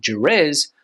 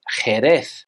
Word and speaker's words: Jerez: For example, this word here is not Jerez, but Jerez. The letter Z here in Spain, especially on mainland Spain, is pronounced as a th sound, similar to the way that we would pronounce thin.